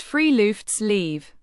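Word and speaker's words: friluftsliv: A truly unique and central concept in Norwegian life is the word froftlive, pronounced freelfts leave, which literally translates to open air life.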